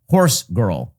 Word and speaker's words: HorsegiirL: artist who calls herself HorsegiirL. Now, as with all types, as with all types of this sort of nonsense, HorsegiirL is not spelled like horse girl. It's spelled horse, Giir, large L.